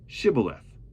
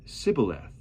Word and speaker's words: shibboleth: they said all right say shibboleth if he said sibileth because he could not pronounce the word correctly they ceased him and